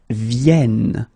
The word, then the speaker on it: viennent: And the last one, because you've got this double N here, you need to pronounce this like eh. And that's the reason why you should pronounce it viennent, viennent.